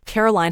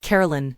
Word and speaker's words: Caroline: Mark was about to read the question but said her name wrong. He said, "All right, Carolyn, here we go." "No, it's not fine, Carolyn," Kelly snapped and the audience went quiet.